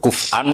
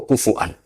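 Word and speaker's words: كُفُوًا: Kuf'an atau kufuan bil hamzah.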